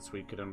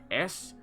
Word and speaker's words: Suikoden: I didn't pronounce it Suikoden back in the day. It's basically like Suiokn or OKN or something. I did not pronounce it Suikoden. It wasn't until I got onto the internet that I realized that.